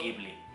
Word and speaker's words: Ghibli: In Japan it pronounces “Jibuli”. Jibuli is correcto. But in the rest of world “Ghibli”.